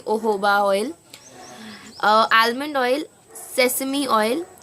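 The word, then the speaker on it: jojoba: ऑयल ओहो बा ऑयल ओहो बा इज जोजोबा in India like we pronounce it ए जोजोबा बट इट is actually ओहो बा ऑयल आलमंड ऑयल सेसमी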